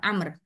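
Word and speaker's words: عمرو: antara Zaid dan dan Amr maaf kalau Amr itu tulisannya Ain mim ro W Amr kalau enggak ada wwya itu Umar tapi di sini karena sudah diharakati a kita bacanya amrun Oke tapi e penulisannya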